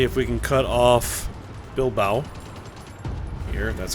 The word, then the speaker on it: Bilbao: offensive let's see if we can cut off Bilbao here and that's how you pronounce that actually looks like we need a